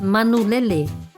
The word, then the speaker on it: manulele: Bird in Samoan is manulele. Can you say that again? Manu lele.